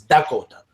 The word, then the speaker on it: Dakota: The language is all the same basically, but they pronounce like lot instead of the L, they have a D. It's Dakota. Same with Nakota, you know.